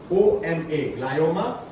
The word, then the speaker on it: ग्लायोमा: ग्लायोमा की स्पेलिंग है GLIOMA, ग्लायोमा, और bezel cell carcinoma BASAL, bezel cell carcinoma.